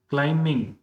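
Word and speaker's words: climbing: क्लाइंबिंग तो यहां पे बी क्या है? साइलेंट लेटर है।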